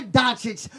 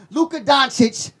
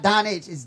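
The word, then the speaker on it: Dončić: and I'm picking Luca donic to win hey I'm say y'all told me on Tik Tok I said his name wrong Luca donic that's how you say it not Don it's donit they told me I got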